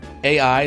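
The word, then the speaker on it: AI: The Somnium Files: Okay, so it's called AI, the Somnium Files, or it's pronounced I, but it's like AI.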